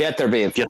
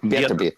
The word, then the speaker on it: Beterbiev: When you switch it in English, it's different. It's actually Beterbiev. That's how you say it. Beterbiev. Yeah, Beterbiev. Yeah. Like you add that Russian accent to it.